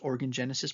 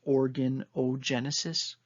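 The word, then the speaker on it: organogenesis: from and so the word is like almost just organ genesis but there's an o in the middle so it's organ genesis but it's just one word like o-r-g-a-n-o-g-e-n-s-i-s sorry if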